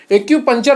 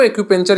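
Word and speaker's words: acupuncture: व्यायाम acupenture एक्यूप्रेशर और योग आदि शामिल है एक्स पंचर वैसे कहते हैं इसको एक्यूपंक्चर यहां पर लिखा है दोनों चीज कहते हैं उच्चारण अपने-अपने अनुसार लोग बदलते रहते हैं तो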